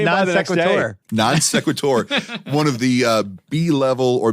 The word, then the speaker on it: non sequitur: At 11 minutes, out of nowhere, this mispronunciation. Wade It's a came by non the next day. sequitur. Non sequitur.